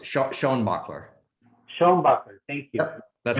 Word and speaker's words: Schoenbacher: Schuenbacher, is that correct? Very close. Sean Bachler.